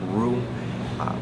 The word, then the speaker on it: roux: It's pronounced roux. It's spelled R-O-U-X.